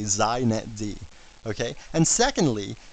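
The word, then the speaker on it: xinetd: a couple things first it's pronounced zet D so if you want to be hip you say zet D okay and secondly it's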